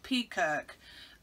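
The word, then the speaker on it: Peakirk: ruddy duck pub in i think you pronounce it peacock on the outskirts of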